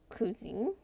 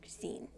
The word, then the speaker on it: cuisine: Ooh, cuisine. Ah, it's pronounced cuisine.